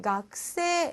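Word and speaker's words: 学生: " 야마다 씨 는 ", 그리고 그 용어 는 " " 학생 " 은 " 가쿠세이 " 라고 발음 합니다 .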